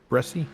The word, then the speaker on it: Bresci: Did I pronounce that right? Bresci?